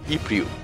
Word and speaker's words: Ypres: Sí, ya sé que se escribe Ypres, pero se pronuncia Ypres.